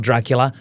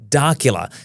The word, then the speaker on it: Darcula: No, not Dracula, Darcula.